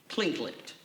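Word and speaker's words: Tlingit: said he was a clean clingit indian pronouncing proudly with the clinking of his tongue as if saying klinklat he was built like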